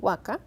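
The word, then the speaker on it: huaca: dis esta misma edición waka pronunciada la última sílaba interior en lo más interior de la garganta se hace verbo quiere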